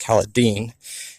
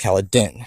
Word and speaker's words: Kaladin: So you're going to find out you're wrong. It's not pronounced Kaladin. It's pronounced Kaladin.